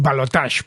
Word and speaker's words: balotaje: conoce como el balotaje, esto que llaman los argentinos balotage, porque son muy finos y lo pronuncian en francés, que es la segunda vuelta electoral, vamos.